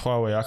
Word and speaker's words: Huawei: It's pronounced Huawei.